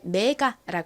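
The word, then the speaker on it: MEGA: 표기합니다 그래서 한국식으로는이 단어를 메가라 씁니다 실제의 발음은이가 좀 힘빠진 어에 가까운 소리가 나서 메가 보다는 메가 메가요 정도로 발음이납니다 사실 가라고 발음 하나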